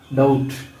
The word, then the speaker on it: doubt: डाउट, शक, DOUBT डाउट, शक। B इसमें साइलेंट है।